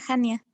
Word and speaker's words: Hania: ¿Es Hania con J? Con H, doctor. Con H, Hania. Pero no, se pronuncia Hania.